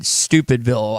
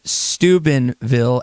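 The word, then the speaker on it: Steubenville: JT and hot springs asking if I said stupidville Ohio it's spelled Stubenville s t euu b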